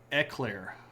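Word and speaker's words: éclair: You pronounce it eclair. Uh, that's probably closer to the actual French pronunciation.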